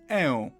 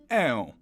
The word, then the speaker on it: ę: Similarly to how a had a variant o, e has a variant ę. You take that e and you drag it a little bit. E, ę. It's like you have e in thank you and ę in thank you?